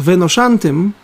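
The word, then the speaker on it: ונושנתם: Так вот, слово «и долго прожив на земле», оно на иврите читается как «веношантем», его гематрия, числовое значение, если рассчитать, то получается 852.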